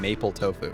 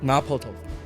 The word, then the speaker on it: mapo tofu: on I'm so white it sounds like you're saying Maple tofu mapo tofu mapo mapo mapo how